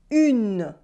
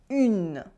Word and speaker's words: une: We can hear the n sound again. Une. Here there is no un sound at all. It is not un, it is une.